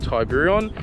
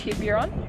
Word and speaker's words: Tiburon: And this car is a Hyundai Tiburon, or if you're from overseas, it's also called a Tuscany.